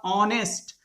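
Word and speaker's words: honest: तो इसका उच्चारण करेंगे तो ये एडजेक्टिव का उच्चारण में एच साइलेंट हो जाएगा, ऑनेस्ट।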